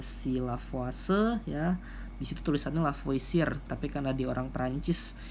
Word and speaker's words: Lavoisier: ya ada hukumnya si lavoce ya bisa Tulisannya lavoisier tapi karena di orang Perancis namanya lavase ya